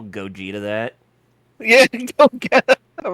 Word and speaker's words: Gogeta: anything and and not hear them pronounce it as Gogeta exactly like it's in the game they say Gogeta yeah so before I